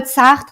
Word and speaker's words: Sartre: Jean-Paul Sartre and Simone de Beauvoir, Wow.